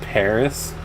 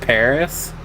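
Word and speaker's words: PVRIS: P R I S is pronounced Paris. We just we just making up these days. Well, yeah, cuz the V looks like an upside down A, so we're going to pronounce it Paris.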